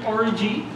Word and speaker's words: Aurigae: Okay, so that is in fact considered the correct pronunciation, Aurigae. I know it sounds very similar to something else.